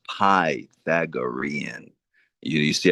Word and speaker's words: Pythagorean: Yeah, that had me laughing every time you called it the Pythagoran, you know, Pythagorian. Yeah, I slaughter that But the real pronunciation of it is Pythagorean.